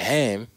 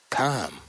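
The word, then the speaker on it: חם: Now the word is actually pronounced Kam, as it is spelled with the guttural H, Cheth, or Keth. The popular pronunciation with the aspirated H is the product of sloppy scholasticism.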